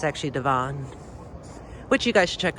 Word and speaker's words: Devon: streets wrong like devon avenue you know people pronounce it devin but it's actually devon which you guys should check out i'll definitely